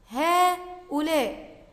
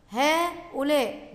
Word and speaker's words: هؤلاء: هؤلاء، هؤلاء، بعد الهاء ألف تنطق ولا تكتب.